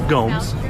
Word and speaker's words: Gomes: Gomez, would you like to face law? Three bars. Yes, sir. Please stop mispronouncing my name. It's Gomes.